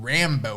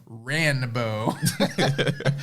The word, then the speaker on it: Ranbo: to fix it like no no no we weren't saying Rambo we were saying ranbo y'all messed up and